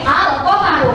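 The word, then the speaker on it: الْقَمَرُ: Oke, Al-Qamaru, Al-nya juga dibaca jelas.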